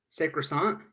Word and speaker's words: sacrosanct: It's a very Americanized pronunciation of it. I live in America. It's sacrosanct. No, like the American pronunciation is sacrosanct. Are you sure? Yeah. Just go on Google, type sacrosanct, and click the speaker button to hear it.